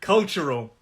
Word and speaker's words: cultural: sip okay so cultural three syllables cultural and the stress where is the stress can anybody hear this cultural i think i've just shown you with my hand cultural the stress is on the first so it's three syllables culture role and something really interesting about this word is the ch sound that tu has a kind of ch sound so it's not cultural it's cultural that's the way i